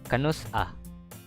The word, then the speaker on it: Kanus-a: Um, Next word is when, which is Kanus-a. Yeah, the dash there indicates like you have to pronounce them like there's a pause between, like Kanus-a, not Kanus-a, because that's not a word.